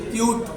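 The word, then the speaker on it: cute: अगला देखते हैं यू का उच्चारण बड़े ऊ की ध्वनि में। जैसे क्यूट, अब लिखा हुआ है यू, लेकिन उच्चारण कैसा कर रहे हैं, बड़े ऊ की ध्वनि में।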